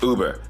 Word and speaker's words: Wber: spelling of his name it's spelled like Weber but is pronounced Uber like the ride sharing app I don't think it's